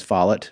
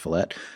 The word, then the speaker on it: Follett: it's by ken falette i used to think his name was follett because that's how it's spelled but yeah that's pronounced fillett and when i was